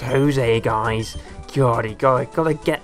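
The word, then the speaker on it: José: over there a camper Jose is built with Jay but pronounced Jose guys Jory guy gotta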